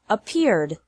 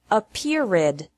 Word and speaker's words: appeared: past of appear is appeared appear has two syllables and appeared also has two syllables don't pronounce it a period with three this is different from